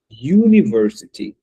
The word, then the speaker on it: university: Esse u no inglês ele vai fazer esse papel de you, né? Então, a gente pronuncia essa palavra university, tá bom, pessoal?